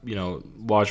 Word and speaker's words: Woj: Yeah, well, something was definitely going on because, as Woj reports, is that how you pronounce it? WJ? Woj? Woj. Yeah.